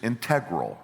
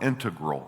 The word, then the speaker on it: integral: The first I is integral or integral. It can be pronounced both ways, and I probably go back and forth.